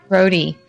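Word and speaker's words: Rohde: Yeah, I'll be there on the 19th, which is also when, how do you pronounce his last name? Joe... Rhodey.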